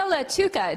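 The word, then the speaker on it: Lattuca: Maria Latuca. Did I pronounce that correctly?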